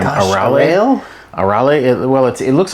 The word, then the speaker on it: Arale: Arale. Arale. It looks like Arale, but it's extra syllables. It's Arale or Arare in Japanese style pronunciation.